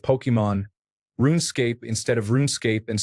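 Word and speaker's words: Pokémon: Things like Pokemans instead of Pokemon, RuneScape instead of RuneScape, and so on.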